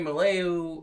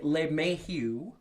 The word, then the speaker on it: LeMahieu: DJ Maleu, which I can never say his name. DJ LeMahieu, okay.